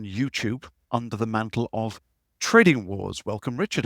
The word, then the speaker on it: TradingWarz: help the ibkr community SO trading Wars is spelled with a z at the end right Richard yes sir tell